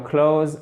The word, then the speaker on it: clothes: Regardez, put on your clothes and get ready. Et là, vous le prononcez comme un S. Put on your clothes, the. OK? Pardon, hop là. Et pas un TH, OK?